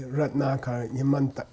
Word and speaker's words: Ratnakara: In English, we normally accent the penultimate syllable, the next to the last syllable. Ratnakara, Ratnakara, Yamantaka, Yamataka. Yeah, but if you know Sanskrit, you should be kind of giving more emphasis to the long vowel. Ratnakara.